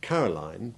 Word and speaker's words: Caroline: And just as we noticed that Caroline, with a stressed ending, has long I1 rather than the long I3 of Pauline, Geraldine or Josephine,